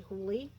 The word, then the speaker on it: Hooley: This is the one from Karen Hooley, who I have now realized I've been mispronouncing her name. It's actually Hooley.